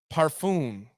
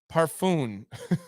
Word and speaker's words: parfum: right yes all right you you pronounce the n parfum parfum okay all right uh